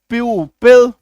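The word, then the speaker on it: pupil: तो ऐसे केस में आप देखिएगा जैसे पी यू पी आई एल प्यू पिल यू एन आई T unite unite य में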